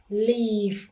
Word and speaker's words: leave: Ở đây mình có từ i và e, cho nên cái này mình đọc là live, và leave để chơi nhỏ.